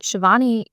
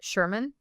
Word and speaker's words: Shivani: And Shiovani to me doesn't seem like a very difficult name. Phonetically, I think it, you know, sounds just the way it's spelled.